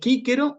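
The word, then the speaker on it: Cicero: Es Cícero y Aciem. Entonces, memorizarse. Cuando veo en latín clásico una C, la tengo que pronunciar como una K.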